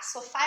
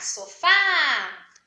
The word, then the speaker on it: sofá: Chegarmos no portão e vamos chamar sofá, sofá. A gente sabe então que a sílaba mais forte é o Fá. Nós pronunciamos mais forte, a gente não fala sofá, por exemplo.